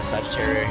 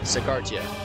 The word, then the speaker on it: Sagartia: prada back from uh sagittarius here or sagarita tia sagartia sorry i've been mispronouncing that this whole time embarrassing all